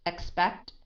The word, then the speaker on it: expect: You don't say k, t, but you say kt, kt, kt. So it's expect, aspect, expect, aspect.